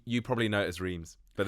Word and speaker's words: Reims: And she was like, oh, you probably know it as Reims, but it's pronounced Rennes.